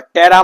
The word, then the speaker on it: ptera: तो P silent होता है इसमें। तो टेरा मतलब क्या होता है, विंग्स, याद रखो ये वाली बात, छोटी छोटी बातें।